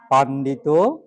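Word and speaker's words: পণ্ডিত: এবার প থেকে থেকে পা থেকে পান্ডিত বাংলাতে পন্ডিত পন্ডিত পন্ডিত ধরো এটা নাউনে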